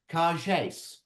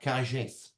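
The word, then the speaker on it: Kargese: Laurent Bouberin explained to us thick Brits that you say it in a French accent like a car chase. So like Cargés.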